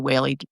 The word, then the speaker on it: Wehle: Wehle rhymes with daily.